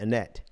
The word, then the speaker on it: Annette: wrong with that like how do you say annette annette because so we basically like a little difference but you put the emphasis on the t right a net that's probably because um